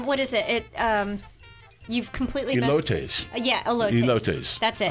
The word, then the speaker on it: elotes: I don't know how to pronounce this now. The Mexican street corn, is that atole? They do that flavor too. No, what is it? You've completely Elotes.